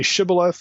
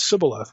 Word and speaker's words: shibboleth: Can you say shibboleth? No, it's sibboleth. Well, you're dog meat now.